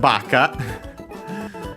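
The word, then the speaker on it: ばか: Then we have baka uh you might have heard it. It means stupid uh accent on the first syllable on the B uh n adjective.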